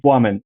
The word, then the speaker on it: Plamen: In Bulgaria, though, the real way to pronounce it is Plamen. It comes out of Plamek, which means a flame. So yeah, that's the way to pronounce it. Plamen sounds like W instead of L.